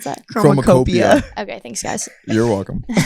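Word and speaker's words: Chromakopia: And also How do you actually pronounce that? Chromacopia.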